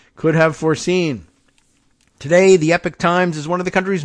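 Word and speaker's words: Epoch Times: really a news organization The Epic Times and you know that that's spelled EPO C Epic Times directed millions of dollars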